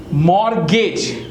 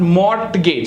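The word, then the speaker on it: mortgage: ट फसन hustle match मॉर्गेज नॉट मोर्ट गज व्ट इज इट मॉर्गेज on often बोला ऑन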